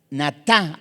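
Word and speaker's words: נָטָה: Ahí vemos que es la palabra 5186 natá con acento en la última a y se escribe estirar, esparcir, acostarse, adherirse, apartar.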